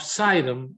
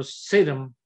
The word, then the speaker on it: Sidon: Yet God did not send him to any household of Israel, but sent him to a house of Sidon or Sidon, different people pronounce it a different way, a people that